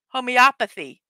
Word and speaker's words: homeopathy: This day aims at marking the importance of homeopathy. It's homeopathy. World Homeopathy Day. I knew I was pronouncing it wrong.